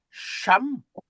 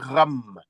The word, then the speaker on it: Cham: fait c'est pas c'estha, ça se prononce comme un R. Tu vois cette lettre là par exemple lorsqu'on dit cham maison on doit dire Ram hein le fils de